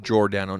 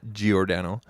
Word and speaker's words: Giordano: mark giordano um and it is pronounced jordano not giordano uh you guys are